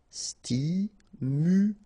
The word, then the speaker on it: stimulant: Stimulant, final T not pronounced, stimulant, stimulant. Circulaire, final E not pronounced, I together, it's E, okay, so R, circulaire, circulaire.